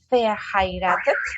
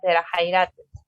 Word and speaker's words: verheiratet: El V se pronuncia como una F, verheiratet, casados.